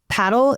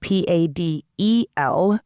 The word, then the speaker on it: Padel: And while we're listening, Padel is spelled Padel, and some people in different parts of the U.S. call it Padel. But in Texas, most of the people I'm talking to are calling it Padel.